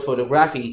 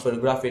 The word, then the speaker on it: photography: When you say the word photography, it's not photography, it is photography, you stress on TO.